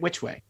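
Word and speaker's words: Wytchway: kind of a little town labeled which way at the top of them it's spelled w-y-t-c-h way yeah yep which way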